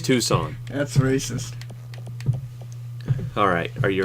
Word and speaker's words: Tucson: Oh my god, you say it wrong. It's Tucson.